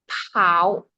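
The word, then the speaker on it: 好: Tristanasa boleh baca tulisan nomor 5 oke Bu le ma bukan paw tapi ini pininnya ya paw tapi kita bacanya itu ee ada h-nya guys. How? Jadi, how jangan paw ya paw.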